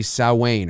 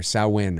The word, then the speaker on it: Samhain: on the yeah yeah the correct pronunciation is actually sauwain or saowin or sauwain i think um i did not